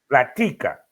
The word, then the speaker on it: La Tica: La Tica.